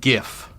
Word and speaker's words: GIF: marketing questions completely unprompted the correct pronunciation is gif now you know Anthony